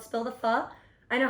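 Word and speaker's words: phở: It's called Spill the Pho. I know how to say it right. Yes, you do. Oh my gosh, yes. Some people say faux, and I'm like, what are you doing?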